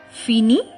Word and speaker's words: finis: are similarly pronounced because the s and t in the end are not pronounced in french let's continue finish so